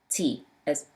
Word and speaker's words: ط: Ta pronounced as a thick T, remember?